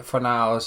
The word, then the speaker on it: Fornals: It's definitely Fornals and Sochek. That's how you say it.